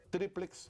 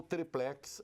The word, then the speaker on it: Tríplex: no caso do tal Tríplex do Guarujá, ou Triplex, as duas pronúncias são corretas, as duas grafias com e sem acento, na verdade eu prefiro Triplex.